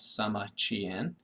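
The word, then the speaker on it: Sima Qian: Sama Chien. His his name is actually spelled S I M A capital Q I A N but we pronounce that Sama Chien.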